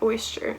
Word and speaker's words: oyster: So for the opposite part, again, we have the oyster. Oyster? Oyster, that's how you say it. It doesn't rhyme with moisture.